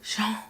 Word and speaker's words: Jean: Vieira does not pronounce Jean's name correctly. He pronounced it more as Jean, kind of airy, and instead of using the J that starts the name, which is Jean.